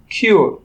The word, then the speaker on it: cure: ঠিক একইভাবে আমরা উচ্চারণ করব SURE, শিওর, এবং CURE, কিওর।